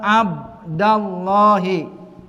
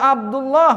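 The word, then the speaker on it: يا عبدَ الله: Dibacanya Abdullah. Enggak boleh ya Abdullah enggak boleh enggak boleh apa sini apa tanwin atau domah enggak boleh ya Abdullah nih salah paham kalau yang dipanggilnya ini mudhaf paham sini dibacanya yang betul apa ya Abdallah kalau Rasulullah siapa yang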